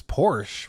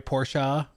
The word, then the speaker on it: Porsche: don't think Sony owns Porsche right sorry porsa you pronounce the e oh well there see